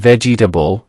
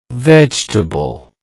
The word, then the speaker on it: vegetable: The correct pronunciation is vegetable. Vegetable. Let's break it down. Vegetable. That's 3 syllables. The stress is on the first syllable.